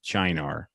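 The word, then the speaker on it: Cynar: radio call it a China and she said well it's Italian and that's how how you would say in Italian um but I'll do signar for anybody who's not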